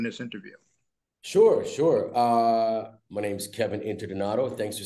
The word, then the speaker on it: Kevin Interdonato: My name's Kevin Interdonato.